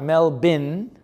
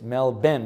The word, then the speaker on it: Melbourne: how to say melbourne it's not melbourne as it's spelled it's melbourne it's not mel bin like like some kind of a bin but it's mel ben like benjamin melbourne okay and you say it fast melbourne okay what was that